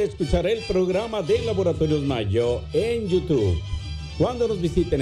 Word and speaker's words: Mallo: Le saludan los Rieleros del Norte para decirles que aquí donde canta el gallo está el Laboratorio de Mayo. Mayo se escribe como gallo, LLO, Laboratorios Mayo.